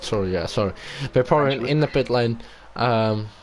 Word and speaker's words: Vaporeon: And we have Vapron in the pit as a Vaporeon, I should say. That's how I pronounce it. Sorry, Vaporeon in the pit lane.